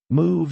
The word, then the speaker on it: move: Move is long OO sound.